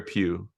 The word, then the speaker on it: Pugh: And and after listening, you guys have to listen to this, but say the name again, Sarah Sarah Pugh, Pugh. How do you spell it?